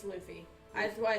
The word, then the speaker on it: Luffy: Nathan pronounces Luffy wrong. Yeah, I know. It's Luffy.